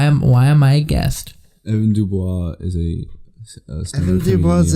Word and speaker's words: Dubois: Say like the Blanche Dubois, you know.